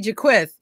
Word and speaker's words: Jaquith: to come on jaqu she just told me after 20 years is how to say her name so I'm gonna say her name right Tracy Jaquith and um she's gonna